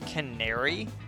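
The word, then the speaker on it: Canari: You know, I've been pronouncing it Kanari. Kanari. Even though I know it's technically pronounced canary, but like, Kanari. That one just kind of sounds better, you know?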